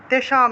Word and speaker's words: তেষাম: তেষাম নিষ্ঠা অনুস্বার থাকায় ম উচ্চারণ।